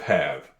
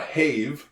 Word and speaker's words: have: beautiful V and then we got a silent e at the end of have you know how I love those silent E and this one makes absolutely no sense absolutely no sense because in in theory the silent e at the end of a word would make the other vowel sound like itself but it doesn't this is not a haave no this in this